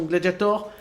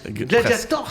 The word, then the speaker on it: Gladiators: Gladiators, il faut dire.